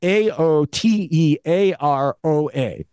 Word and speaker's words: Aotearoa: I have no idea how to pronounce it. Aotearoa. It's Aotearoa.